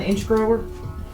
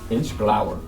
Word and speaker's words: Inchgower: All right, you want me to talk a little bit about what I found on Inchgrower? Inchgower.